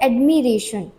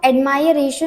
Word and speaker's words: admiration: हम एडमायर पढ़ते हैं, बट वर्ड अगर लिखा होता है एडमिरेशन, ADMIRATION, तो इसको हम एडमायरेशन नहीं पढ़ते हैं, इसको हम एडमिरेशन प्रोनाउंस करते हैं।